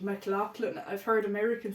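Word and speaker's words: McLaughlin: three is Mr John mclan now this is how we pronounce his name in Ireland mclan I've heard American saying mlin oh did so I'm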